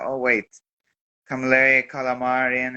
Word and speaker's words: Camilleri: see, we've got the FCC European Champion, Calamari. Is that how it's pronounced? Camilleri, yeah, very close. But it's good though. Well, Still, no worries. how is it actually pronounced? Is it Camilleri or? Camilleri, yes.